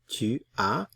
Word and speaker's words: tu as: Notice the S is not pronounced. Tu as.